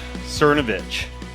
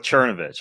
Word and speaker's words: Cernovich: All right, well, my guest today is Mike Cernovich. You pronounce it Cernovich, not Cernovich, right, Mike? Right, or Cernovich, I guess, is the proper way, but we go with the Anglicanization of it.